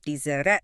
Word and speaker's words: desert: Stress is on the first syllable. Dessert.